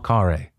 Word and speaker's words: Khare: a conversation I can speak words with Michelle Kaare hello hello I had to double check on that I was pronouncing your name right because I've learned in